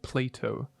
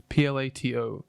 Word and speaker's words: Plato: Okay, so this city was first mentioned on record by an ancient Greek philosopher by the name of, I believe it's pronounced Plato. Plato.